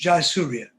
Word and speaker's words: Jayasuriya: Mahesh Jayasuriya. Have I got the pronunciations correct, Lionel? Yes, yes. Professor Somasundaram and Dr. Mahesh Jayasuriya.